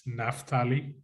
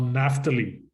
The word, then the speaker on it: Naphtali: want a title for this um topic it's naftali naftali or naphtali or however you want to pronounce it so naftali means wrestlings naphtali means